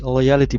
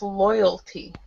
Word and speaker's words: loyalty: and tell us what you think I use loyality Point cards in shops uh it's like a bonus yes it's pronounced it's pronounced loyalty loyalty loyalty okay uh it's like a point